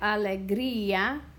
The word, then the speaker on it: alegría: So alegría or alegría. I like alegría, so I want to make sure that this breaks apart from this. And in order to do that, I have a weak vowel here. So I'm going to put an accent mark on it to make it give it enough strength to break apart from the I sound.